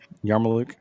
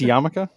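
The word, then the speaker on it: yarmulke: Is Is that pronounced Yarmaluke? Yarm. You going to get it again. That's Yamaka. Yeah. Yamaka. Wow. I had no idea it was spelled that way.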